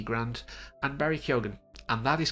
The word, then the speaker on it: Keoghan: He says it that way, and who better as the source? Across Ireland there are different pronunciations. I've said it wrong in the past, but yeah, that's how he says it, and now I'm